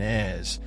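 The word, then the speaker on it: Èze: Pronounced correctly sounds like Nice and Ez, but when it was called over the intercom, no one moved.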